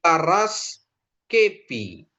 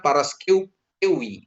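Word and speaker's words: Παρασκευή: To alevi terus i paras kepi i paraskepi bukan paraskewi gitu ya paraskepi jadi e ini jadi dibaca dia jadi f gitu ya bapak ibu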